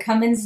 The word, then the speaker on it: Cummins: perfect with 1l and cummins no g like strong like the diesel engine is what i would